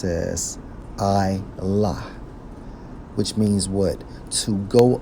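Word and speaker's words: עלה: Went up, according to the Hebrew, Strong's H 5927, pronounced as I-lah, which means what?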